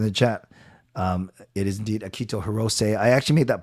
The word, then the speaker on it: Akito: But technically his first name, you could say it actually Akito. You could put the accent on the first syllable. So instead of Akito, you say Akito. So technically it's Akito Hirose.